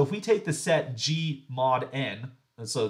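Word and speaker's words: G/N: So if we take the set G mod N, and so that G slash N right there, it's often pronounced G mod N.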